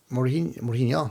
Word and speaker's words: Mourinho: Mourinho, that's how it's pronounced. Jose Mourinho, Jose Mourinho.